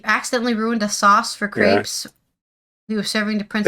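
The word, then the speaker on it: crêpe: ruined a sauce for crepes he was serving to Prince Edward of Wales it's pronounced crepe yeah crepe with no time to recover he it's in French it's crep he tasted the burn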